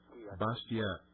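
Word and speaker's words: Bastiat: The last name is B I A Bastia. Yes, it's pronounced nice.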